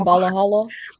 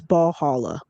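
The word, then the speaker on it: Ballhalla: cuz I mispronounced cuz you kept saying Balahhala. Hey, somebody did get in them comments on YouTube and was like, "It's ball holla."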